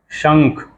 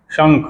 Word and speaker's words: शंख: तालव्य श होता है शहर वाला श और शंख उसके ऊपर बिंदी होती है और फिर ख होता है तो उसको पढ़ते हैं शंख यानी श और उसके बिंदी को क्या कहते हैं कैसे उच्चारण करते हैं कैसे प्रोनंसिएशन ंग शंख हो जाता अब चलिए लिखते हैं